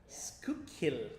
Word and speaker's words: Schuylkill: He said it's Schuylkill. Make sure you get the pronunciation. Schuylkill. That is correct.